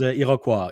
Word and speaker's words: Iroquois: No, in French is Iroquois. In English would be Iroquois.